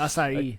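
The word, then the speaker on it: açaí: Acai. A- a- Acai. Something like that, yeah. Acai. It's pronounced acai.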